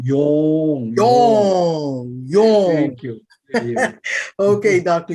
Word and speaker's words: Yong: Dr. Yong, not Yang. Yong.